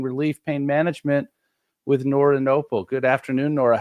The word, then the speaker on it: Knople: We're gonna be talking about pain, pain relief, pain management with Nora Noel.